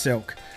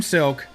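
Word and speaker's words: Silke: got Jim silk interior I think it's pronounced silk it's s I lke so if you're ever looking it up but I call it silk I guess could be silky I don't know but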